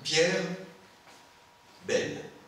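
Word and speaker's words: Pierre Bayle: à la fois alors je vais prononcer à la française hein pierre belle ça va alors à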